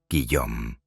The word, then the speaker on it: Guillaume: mano a sus dos hijos pequeños, Olivier y Guillaume, pronunciado Guillaume.